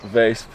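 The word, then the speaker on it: Weesp: Yeah, and your pronunciation was good. Vesp. Yeah. Very good.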